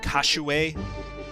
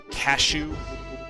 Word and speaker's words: Kashue: My recollection from the anime is that his name is indeed pronounced Kashuei, not Cashew.